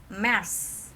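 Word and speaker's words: März: Terus ini Februari artinya Mars. Cara bacanya Mars.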